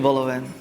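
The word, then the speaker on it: vol-au-vent: Is chicken voloven. Chicken vol. Silent letter T.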